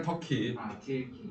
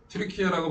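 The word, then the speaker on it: Türkiye: 터키라고 바라고 하지 말고 터키 사람들은 자기나 하나 나라 이름을 터키라고 말하면 안 해요 트리케어라고 발음하기 때문에 그거에 맞게 발음하는 거 그래서 터키라고 요즘은 안 하고 트리케어라고 얘기를 합니다 트리케어하고 시리아 요쪽에서 지진이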